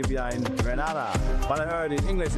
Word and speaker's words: Grenada: Grenada. Say it right. Grenada. That's right. Grenada. There we go. Say it right. It's Grenada. It's not Granada. It's Grenada.